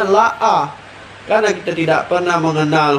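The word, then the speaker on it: لا: Ketika lam dan alif itu bertemu, kadang-kadang kita bacanya AA, padahal itu ada lam dan alif, bacanya la'a.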